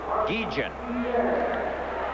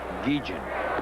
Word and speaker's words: Guillen: Now, this youngster wants his name pronounced Guillen. Ozzie Guillen. It's spelled Guillen, but for some reason he wants it pronounced Guillen.